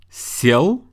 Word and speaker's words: сел: Listen to the difference in pronunciation. Сел, съел. Сел means I sat down, and съел means I ate something. Why do you think we need a hard sign or a soft sign?